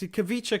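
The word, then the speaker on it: Khvicha: I'll just pronounce it phonetically. Kavicha. Karachalia. You weren't far. That was really good. You got his first name right. It's Kavicha Kvaratskhelia. There you go.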